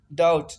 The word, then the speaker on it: doubt: जैसे सेकंड है COMB कॉम, कॉम बी जो है साइलेंट है। कॉम मीन कंघी। डाउट DOUBT, डाउट, डाउट mean शक।